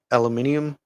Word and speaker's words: aluminium: I think they're still using aluminium or aluminum, that the Americans say, in the other ranges, but stand to be corrected.